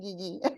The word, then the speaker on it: Guigui: I'm gonna say it like how we say it at home. Guigui.